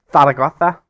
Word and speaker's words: Zaragoza: But today it's Zaragoza, which is how you pronounce it if you are proper Spanish.